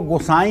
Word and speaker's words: गोसाई: तो हनुमान चालीसा की एक चौपाई में गोसाई शब्द है, इसको गोसाई ना बनाएं। हनुमान चालीसा में हर शब्द जैसे लिखे हैं, इनका उच्चारण वैसे ही करें।